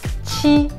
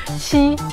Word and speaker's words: 七: It is similar but different, okay? So if you can speak 七, that is great. If you cannot at the moment, think about cheat, okay?